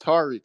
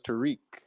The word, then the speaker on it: Tariq: had no idea that your name was pronounced Tariq. I thought it was Tariq.